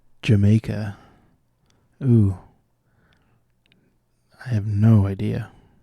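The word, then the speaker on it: D'yer Mak'er: Led Zeppelin title that's meant to be pronounced Jamaica.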